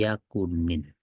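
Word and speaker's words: يكن: Kemudian diikuti yakunin. Yakun akan tapi dibacanya jadinya yakuni ya, karena setelahnya kan ada alladzina sehingga yakuni.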